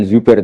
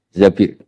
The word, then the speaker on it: Zabir: Di hadis ini bukan bacanya bukan Zubair tapi Zabir. Abdurrahman bin Zabir.